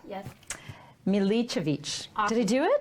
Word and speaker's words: Milicevic: So joining me today in the studio is now, see, I wrote down my cheat pronunciation. Milka? Yes. Milicevic.